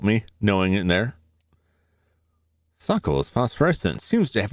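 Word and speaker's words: socle: Sockle? Social? Can I get an assist here, Google? Tell me how to pronounce this.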